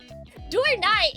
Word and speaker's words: Dorai: which is technically correct dorai is the correct pronunciation but I feel like a